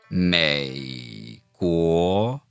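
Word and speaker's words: 美国: Let's put M-E-I, may, in the third tone, together with G-U-O in the second tone, guo, together. Practice saying it after us. 美国美国 Now notice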